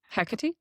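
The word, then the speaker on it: Hecate: Hecati.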